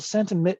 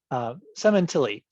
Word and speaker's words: Sementilli: Sentiment, I'm sorry, I spelled that, pronounced that wrong. Sementilli, Sementilli, suggestions for building a